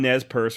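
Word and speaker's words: Nez Perce: stick your head in doo doo daddy is pronouncing nez purse right just kidding about the stick in your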